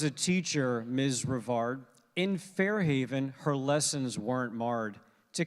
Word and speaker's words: Fair Haven: that's right that's right that was the New Jersey pronunciation of Fair Haven I pardon pardon me for that is Fair Haven right with the accent on the on the second syllable all right so everybody